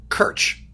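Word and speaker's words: Krc: who was Czech, and his last name was spelled K-R-C. That was it. It was pronounced Kirch.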